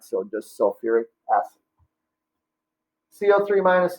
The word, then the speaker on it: sulfuric acid: That is called sulfuric acid. All right, sulfuric. Again, add the UR before the ic ending. Again, no hydro. All right, so just sulfuric acid.